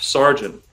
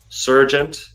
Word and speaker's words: sergeant: a l tenant staff sergeant Sergeant is a little harder to dissect it's spelled a little strange in English but you have sir you have gent you have Gene genealogy surgent I've heard a lot